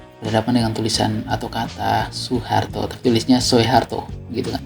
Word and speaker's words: Soeharto: Dari yang OE jadi U, DJ jadi J, dan TJ jadi C.